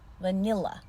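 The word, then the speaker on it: vanilla: benzer kelime vanilya anlamındaki bu kelime üç heceden oluşuyor vurgu ikinci hecede ilk hecede ve son hecede şva va nia vanila vanila Muhtemelen Türkçe düz a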